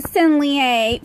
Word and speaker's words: Sennelier: And then, the creme de la creme, we got the Sennelier French Artist Lacrel pack. And I shouldn't be able to pronounce those words because I'm speaking in a